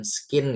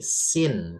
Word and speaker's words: scene: Ini C-nya enggak usah dibaca, Guys, ya. Bukan skin gitu, bukan, ya. Tapi sin.